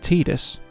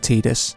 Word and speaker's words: Tidus: So it is Tidus because a voice actor in Japan decided to pronounce it Tidus instead of Tidus.